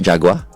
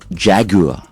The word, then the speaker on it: Jaguar: it's not Jaguar. It's not Jaguar. It's Jaguar.